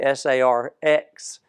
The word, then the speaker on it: sarx: flesh or SARS uh the actual way that that would have been properly spelled would be s a RX rather than KS but I I'm saying it here in the way it would be pronounced uh and that really